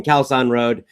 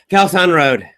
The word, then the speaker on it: Khao San Road: to foreign people saying kalson road they're used to the terrible pronunciation they understand it so I would just say ah ok khao san road so they would drive